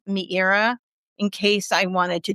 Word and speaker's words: Meira: MEIRA, like Madeira wine, but MEIRA.